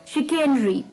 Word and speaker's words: chicanery: तो चलिए, द 14th word for the evening is शिकेनरी। इसकी प्रोनाउंसिएशन थोड़ी सी अटपटी है, शिकेनरी, CHICANERY, शिकेनरी,